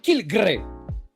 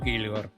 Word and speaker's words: Kilgore: Por lo tanto, la forma correcta de pronunciar Kilgore es Kilgre. O Kilgr. Esto tiene una respuesta. La respuesta que le da la editorial. Siendo honestos, siempre pensamos que se pronuncia como Kilgore.